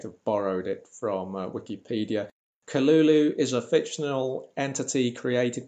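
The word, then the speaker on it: Cthulhu: And it's supposed to be K-Lul-Loo, according to this YouTube link, K-Lul-Loo.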